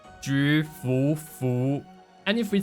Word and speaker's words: Jufufu: Her name is pronounced as Jufufu, Jufufu.